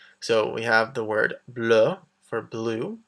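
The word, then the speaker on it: bleue: So we have the word bleu for blue, bleu. The extra E is for if it becomes feminine. The pronunciation is the same though.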